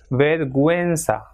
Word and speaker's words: vergüenza: And same way, this second word will be pronounced as vergüenza, because it has got two dots.